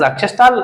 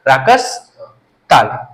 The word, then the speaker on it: राकस ताल: लोग प्रोनाउंसिएशन की वजह से इसको क्या पढ़ रहे हैं? राकस ताल। Earlier it was known as राक्षस ताल, अब प्रोनाउंसिएशन लोगों का अच्छा हो नहीं पाया, that's why it is known as राकस ताल।